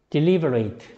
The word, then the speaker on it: deliberate: deliberate 시작. 자, 제가 지금 발음을 it로 발음했어요, eight로 발음했어요? deliberate 뭐로 발음했어요? eight로 발음했죠.